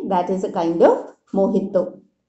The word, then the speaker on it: mojito: Okay, that is a kind of mojito. The spelling is J, not H, but we pronounce it H, mojito.